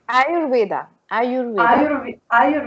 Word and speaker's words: Ayurveda: or are you better how to pronounce it correctly ayurveda are you ready are